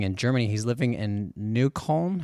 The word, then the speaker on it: Neukölln: He's living in Neukölln. How do you say that? Neukölln? You'd say Neukölln.